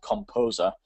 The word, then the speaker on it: KompoZer: If not, there's a free one which is called Composer, which is spelled Kompozer.